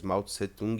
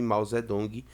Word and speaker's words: Mao Zedong: ou mao zedong para você pode encontrar as duas grafias e as duas pronúncias mao tsé-tung é um nome mais ocidentalizado e mao zedong é da maneira como os próprios chineses pronunciam os próprios chineses falam tá e o grupo